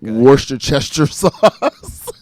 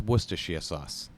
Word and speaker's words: Worcestershire: it up on purpose wash the Chester sauce so you literally like had my attention with that because it was freaking hilarious and I was like I like this guy I was just angered at that moment I remember like using it and being like it's Worcestershire sauce say it again Worcestershire sauce thank you Worcestershire sauce right and